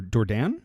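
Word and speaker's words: Dourdan: name how do you how do you say his last name d dordan dordan d it's like d o u r d an oh yeah Daran dordan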